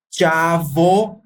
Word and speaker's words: chavo: El chavo, se escribe chavo. Não tem um som de V em espanhol. É o som de V e o som de B é parecido.